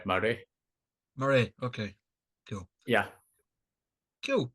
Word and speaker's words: Maraigh: yeah, it's like Murray.